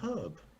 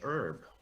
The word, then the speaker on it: herb: I'll replace it with another herb, or as you Americans say, herb.